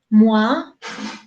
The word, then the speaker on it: moi: Entonces, cada que encontramos una OI, el sonido es OA. No OI, sino OA.